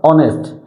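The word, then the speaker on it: honest: অনেস্ট। এস ও এন এস টি, কি হয়েছে? অনেস্ট। এখানে এস এর উচ্চারণ কি হয়েছে? অ হয়েছে। দেখেন এখানে এস এর উচ্চারণ কিন্তু হ হয় নাই।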